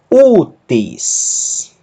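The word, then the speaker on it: οὔτις: Ômicron Y pronuncia-se U e a aspiração branda não altera a pronúncia do ditongo. O acento agudo indica que o ditongo U é justamente a sílaba forte da palavra. Na sílaba seguinte, tal, iota sigma, tis.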